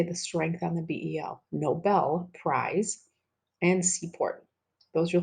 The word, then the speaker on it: Nobel: Muslim we all know that Nobel it's not Noble its Nobel when we pronounce it we say the strength on the BL Nobel Prize and support those are fine in this